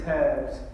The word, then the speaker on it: herbs: Americans say herbs weird, don't they? Herbs. It's herbs. There's an H there. Need to pronounce it.